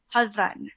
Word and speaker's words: Hadan: So this in the Somali way of pronouncing was the D would turn into a DH sound. And if you wanted to pronounce it the Somali way or the way you're pronouncing it now is just perfect. Okay, so how's the Somali way? Hadan. So it's a softer D.